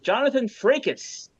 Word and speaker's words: Jonathan Frakes: Pancreatic Cancer team, and they mispronounced Jonathan Frakes' name. They Did they say they Franks? announced no, they announced him as Jonathan Frakes, and then Nice.